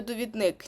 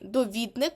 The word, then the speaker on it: довідник: довідник тому що довідатись ви дуже часто говорите довідник ні довідник бо від довідатись зручний бо